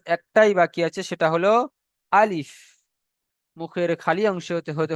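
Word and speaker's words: ا: 18 নম্বর মাখরাজ একটাই বাকি আছে, সেটা হলো আলিফ।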